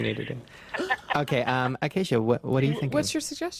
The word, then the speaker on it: Acacia: yeah okay so i am here um with akashia that's not my name how do you say it again oh damn it i keep around uh okay the queen of instagram yes acacia okay um and she uh is ready for